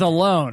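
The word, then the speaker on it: Ellone: Oh, so you go with Alone, huh? That's how you say it. Is it really? It's not Ellen?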